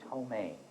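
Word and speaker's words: ptomaine: we'll reset to 30 seconds remember the the first letter is silent cursely food poisoning caused by bacteria or bacterial toxins botulism that's incorrect p t o m a i n e domain is the answer and now firstly you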